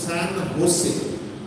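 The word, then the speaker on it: San Jose: মধ্যে একটা জায়গা হচ্ছে স্যান হোসে, ইংরেজিতে আমরা লিখি SANJOSE, কিন্তু যেহেতু সেখানে স্প্যানিশ বা মেক্সিকান অনেক, এই উচ্চারণটা হোসে হয়ে যায়, যেটা এই উচ্চারণ হয়ে থাকে।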